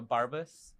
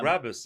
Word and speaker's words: Brabus: It's a Barbus. Yeah, Brabus.